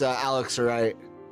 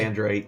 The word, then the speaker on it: alexandrite: Because, I mean, 500 gold piece Alexrite, if I'm even pronouncing that correctly. Alexandrite.